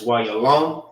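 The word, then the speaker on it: יהלום: How you say diamond in the Hebrew is why you're alone.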